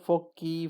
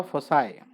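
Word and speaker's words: foci: लेकिन बहुत से लोग फोकी फोसी पता नहीं क्या क्या बोलते हैं, लेकिन मैं भी ऐसे डाउट में रहता था। फिर एक दिन डिक्शनरी में देखा मैंने इसको, तो उसके अंदर प्रोनाउंसिएशन भी लिखा रहता है ना, अगर आप एक्सपर्ट एडवांस पढ़ोगे तो उसके अंदर इसको लिखा हो फोसाई।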